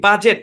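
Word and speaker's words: budget: বাজেট। এখানে D silent, বাজেট, কি উচ্চারণ? বাজেট।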